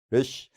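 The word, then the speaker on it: ריש: 특유의 발음이 그렇기 때문에 러쉬 그냥 러쉬가 아니라 이게 들어가면서 이게 떨려갖고 아기 때 아주 제 딸도 이제 유치원 다닐 때 히브리 유치원 다닐 때 아기가 되니까 잘 하더라고요. 어른들은 도저히 흉내를 못 내는 발음인데 하여튼 R에 가까운 이 속에 들어가는 발음이다. 이렇게 생각하시면 되겠습니다.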